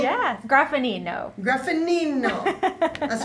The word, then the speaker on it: Graffagnino: Well, we have today our fashion expert, Graffagnino. Yes. Did I say it correctly? Yes. Graffanino. Graffagnino.